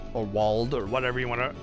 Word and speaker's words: Wald: I always thought it was weird that they had Wald, or Wald, or whatever you want to pronounce it. It's supposed to be pronounced with a German pronunciation.